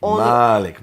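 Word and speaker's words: مالك: Malik, Yes. a long A with a dagger Aleph that's added at later on. And that dagger Aleph makes it owner.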